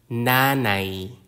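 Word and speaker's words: nanay: expensive the consonant n like the n in net Nani Nani Nani is Mother the consonant P like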